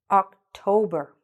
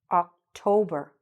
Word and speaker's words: October: Good. October. October. What do you hear? The stress again in the middle. October.